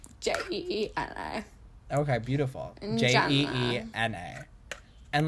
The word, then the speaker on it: Jeena: Both 2 E's. Where the there's, like, so is it Jeena? Next to each other. Okay, so it's like nails spelled like Jeena. Jeena. Oh, but one N. Jeena.